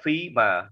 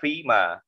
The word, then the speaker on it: femur: Giờ femur, đọc là femur nha, đùi, xương đùi đó, chúng ta đọc là femur.